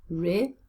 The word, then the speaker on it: reliable: Where is the stress in this word? Reliable. It's on the second syllable.